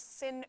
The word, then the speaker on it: sine: And it's actually interesting because in England they call these sin, cos, and tan. Just a different way to pronounce them. We call them sine, cos, and tan.